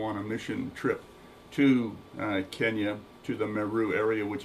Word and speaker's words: Kenya: Kenya is how you pronounce the country's name.